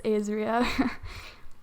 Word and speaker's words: Ayzria: Also, if you're wondering, that is how you pronounce it. It's Ayzria.